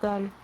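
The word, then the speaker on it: 달: The Korean word for moon is pronounced dal.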